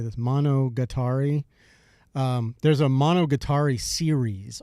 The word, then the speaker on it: Monogatari: Monogatari.